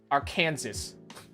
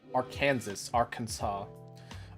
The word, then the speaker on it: Arkansas: Since 1881, it's been illegal to mispronounce the state name as is intended to reflect the state's heritage and is a French pronunciation of a word in the Sioux language. Arkansas.